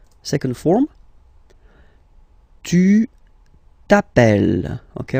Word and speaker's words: appelles: All right, second form, tu t'appelles. Okay, remember, final s not pronounced, tu t'appelle.